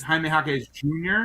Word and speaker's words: Jaime Jaquez Jr.: And you get to call him Triple J, and one of the J's is silent, or two of the J's. Yeah, This is Jaime Jaquez Jr.